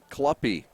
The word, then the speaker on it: Kluppy: And then Pulshin is in the hole, the first sacker for Brian Kluppy. Rhymes with puppy.